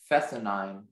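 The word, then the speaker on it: fescennine: Your word is fessenine. Can you repeat that one more time? Fessenine. Are there any alternate pronunciations?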